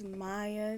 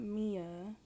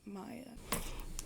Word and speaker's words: Maya: Hi guys, it's Maya, not Mia. For the people in the back, I don't care how it's spelled. It's pronounced Maya.